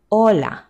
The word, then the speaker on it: hola: or she may say hola and you would simply say hola back notice how the H is silent and it is pronounced olola and not hola also